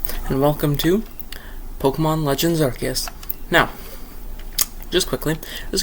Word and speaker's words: Arceus: Uh, Archus is pronounced Archus, not Arus.